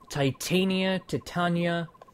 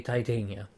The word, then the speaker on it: Titania: And it's a different pronunciation, you know? I get it. But I say Titania. So if you're bothered, I'm sorry. let's see. Titania.